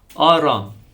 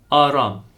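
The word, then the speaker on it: Արամ: Now, write the following name from Jesus' lineage in Armenian letters, pronounced Aram. Aram.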